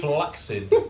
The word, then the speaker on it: flaccid: I think you can make rather a strong case if the second C is followed by an I or an E for its pronunciation as an excess sound, exemplified by access, vaccinate, accelerate, accident, etc. Ergo, flaccid.